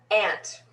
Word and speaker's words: aunt: from it's just glass plus ant and i mean a-u-n-t unless you're on the east coast standard the standard is ant if you say aunt